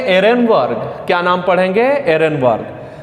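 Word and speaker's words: Ehrenberg: नाम है के लिए यहां पर साइलेंट है आप इसे पढेंगे इन वर क्या नाम पढेंगे इन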